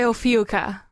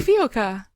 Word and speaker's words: Ophiuka: I go by Ophiuka. What? Great. Ophiuka. Yeah. Ophiuka. Sounds like tapioca.